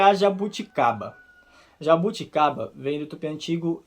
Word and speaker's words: jabuticaba: Essa pronúncia dessa palavra é mais difícil pra mim, hein? Achou mais difícil? Jabuticaba. O B não é exatamente um claro B. Isso, na verdade... E o J também não tem som de J.